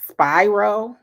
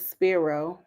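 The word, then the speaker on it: Spiro: have D do said the lawyer name is pronounced Spyro okay all right I thought it was sparo okay thank you so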